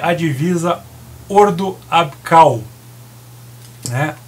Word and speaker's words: Ordo Ab Chao: CH se lê como, como se fosse o C, né? Então, por exemplo, choros é coros, chau é cal, né? Então, a pronúncia correta é Ordo Abkal, né?